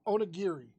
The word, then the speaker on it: Onigiri: Onigiri. She Caroline, butchered it.